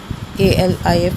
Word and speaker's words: alif: Alif, A-L-I-F, Alif.